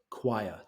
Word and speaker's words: choir: people singing in a Cho choir two syllables CH so all these people